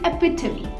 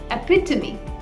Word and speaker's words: epitome: this word is not epitome but the correct pronunciation for this word is epitome epitome epitome absolutely so let's look at the meaning